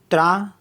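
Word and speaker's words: train: आई एन पा एन टी आर ए आई एन त्रा त्रा मीस होता है ट्रेन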